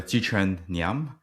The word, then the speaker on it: Jiquan Ngiam: Um my name is Chih-Chen Nyam. Uh really hard to pronounce, so I go by usually.